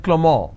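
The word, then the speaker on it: Clément: it's pronounced it avril the name clement is pronounced at clamor in french so the names are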